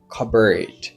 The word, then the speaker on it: cupboard: En anglais mot ça ils ont prononcer comme cupboard. Cupboard qui veut dire placard.